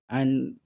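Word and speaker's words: عين: আইন ইয়াজের ই, আইন উচ্চারণ করতে হবে, আইন গলাতে বেরোবে।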